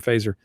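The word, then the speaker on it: Feser: goes to Ed fazer I think it's fazer is how you say his last name yeah yeah fazer this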